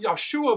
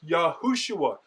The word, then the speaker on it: Yehoshua: Now, some applying the same logic as the Yehosha uh pronunciation would say this is Yeshua. However, it is not Yeshua because we have in the Dead Sea Scrolls the full form, which reminds us it is Yehoshua, yod he waw shin waw ayin.